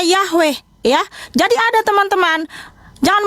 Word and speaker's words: Yahweh: Ini ada namanya huruf Paleo Ibrani Yod He Waw He, yang dibaca atau pelafalannya Yahweh, ya.